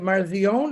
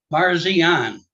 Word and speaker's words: Parsian: say your last name is that marzion is that I pronounce it or I'm going to say it wrong so you just correct me please sir Parsian I was close yeah you were yeah